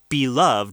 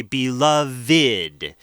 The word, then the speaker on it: beloved: say my beloved beloved it's spelled the same way but at the end instead of beloved we say beloved it kind of has a different uh sound at the end uh